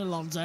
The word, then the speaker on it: Alonso: Presume you can say David Alonso because that's how it's pronounced, not David Alonso. It's David Alonso.